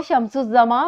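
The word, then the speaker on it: شمس الزماں: इसमें भी अलिफ और लाम की आवाज़ साइलेंट है और इसको शम्सुज़्ज़मा बोला जाता है।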